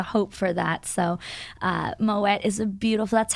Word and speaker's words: Moët: pronounced moette is because the name is Dutch in origin and it's a bit